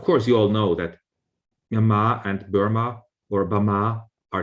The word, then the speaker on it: Myanmar: Now, of course, you all know that Myanmar and Burma or Bama are the same word. It's just different varieties of the language. So the literary Myanmar in colloquial Burmese has always been pronounced as Bama.